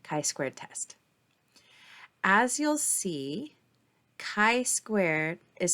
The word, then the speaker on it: Chi: test as you'll see Chi Squared is spelled c h i squared and so that Chi is pronounced Chi like a k like kite so Chi Squared Distribution of color